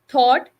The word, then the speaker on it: thought: So in words like daughter, night, thought, GH is written, but it is not pronounced.